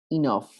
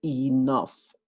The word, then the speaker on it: enough: suena como U, to, enough. En este caso, esta letra E va a sonar como I latina, enough. Y la sílaba GH va a sonar como una letra F, enough.